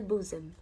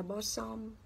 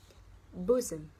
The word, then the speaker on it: bosom: đây là som, nhưng mình không đọc là bo som, mình không đọc là bo sừng, mình đọc là b, u ngắn, bosom, bosom.